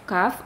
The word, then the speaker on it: ك: Artinya huruf kaf ini adalah salah satu huruf hijaiyah yang dibaca tipis. Ya, suaranya itu diarahkan ke luar dan lidahnya itu rileks ya. Jangan dinaikkan pangkal lidahnya. Jadi dia dibacanya tipis. K ya.